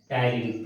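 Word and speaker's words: ptyalin: टायलिन. PTYLIN, टायलिन. Here P silent, टायलिन.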